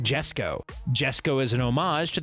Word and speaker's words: Jesko: It's Koenigsegg Jesko.